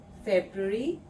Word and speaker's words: Februar: February, Februar.